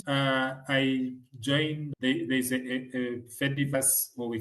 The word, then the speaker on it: Fediverse: f e d i v e r s e the Fedi Okay, maybe to make it simpler. Yeah. Fediverse. Yeah, like a universe, but Like a metaverse, but Fediverse.